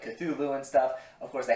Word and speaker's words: Cthulhu: he sings his name Cthulhu, he pronounces the T with kind of like a hard sound, which typically isn't how people pronounce the name. Usually people pronounce it, as I said before, Cthulhu, but I really don't care, to be honest.